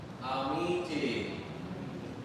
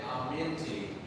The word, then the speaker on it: amiti: Amiti. Amiti. So remember, we don't want to say aminti, all right? We want to say amiti, all right?